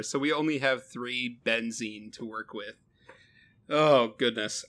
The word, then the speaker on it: benzene: So, as far as what we're going to make with the benzene, I know I'm mispronouncing that. No, it is benzene.